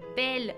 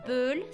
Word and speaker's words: belle: Tenemos igual en la palabra belle. No se pronuncia belle, se pronuncia belle porque tenemos una E y después le sigue doble consonante.